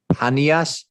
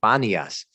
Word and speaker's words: Panias: in modern arabic baniyas it should be called panpa panias with a popping p sound but the arabs cannot pronounce a hard p sound so they soften it to banias but if you look